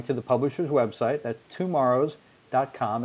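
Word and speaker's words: TwoMorrows: the publishers website that's tomorrow's calm it's not spelled like tomorrow it's spelled like two Morrow's TW o M o RR o WS calm back issue is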